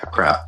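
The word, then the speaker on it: עקרב: Yeah, a crab. A crab. So and typically Q is pronounced K in those aspects, as opposed to how we pronounce Q.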